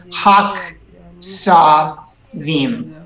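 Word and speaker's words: הַכְּשָׂבִים: Hakesavi. So we want to actually close a syllable here. Hak sa vim.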